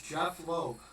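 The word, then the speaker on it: Jeph Loeb: His name is Jeff Loeb. Yes. I was gonna say Jeff, but I'm like, it's spelled a little differently. It's a PH instead of an F.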